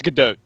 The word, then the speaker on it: Gadot: It's Godot, I believe. Godot. Okay. I believe you pronounce it T.